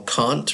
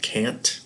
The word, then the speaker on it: Kant: There's quite a bit on Immanuel Kant, or sometimes called Kant, the way you pronounce it, is based on what country you're in. Americans call him Kant. Brits call him Kant.